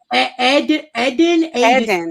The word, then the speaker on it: Eden: Eden, like Aiden, Eden.